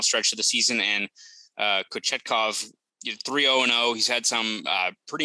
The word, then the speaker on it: Kochetkov: I'm gonna go Kochetkov. Kochetkov sounds like Coachella, but Kochetkov. It's better than that Russian guy.